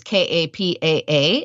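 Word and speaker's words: Kapaʻa: than in English but every single vowel is pronounced so that's your key like a word like Kappa which is ka PA a and it's one of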